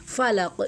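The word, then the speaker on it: فلق: नहीं होने देंगे फलक फ को जब हम प्रोनाउंस करेंगे तो ऊपर वाले जो दो दांत है ना उसको हम नीचे वाला जो लिप है ना उसके अंदर वाले हिस्से को हम टच करेंगे। फ को हम इस तरह प्रोनाउंस करेंगे।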